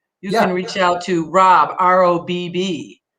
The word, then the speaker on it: Robb: Guys, and if you want to become a sponsor, you can reach out to Robb, R-O-B-B, 2 B's. The second B is silent.